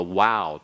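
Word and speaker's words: ו: fascinating to me that those who use modern he pronunciation are inconsistent they won't use them all the way through they only select primarily the Wow to pick on and so I very much insist on using the W myself and then all right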